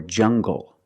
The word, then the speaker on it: jungle: hard G English or jungle tangle and angle these are pronounced with the hard G sound example monkeys live in